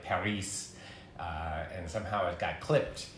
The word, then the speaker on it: Paris: Like Paris, you don't pronounce the S on the end.